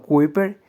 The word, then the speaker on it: Kuiper: tno el cinturón de kuiper pronunciado kuper ocasionalmente llamado cinturón de